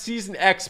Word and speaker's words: Season X: but it's season X I know like iPhone X all right so whenever